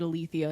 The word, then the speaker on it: Alethea: too long ago but they pronounce it Alethea is it a le thi a well okay I was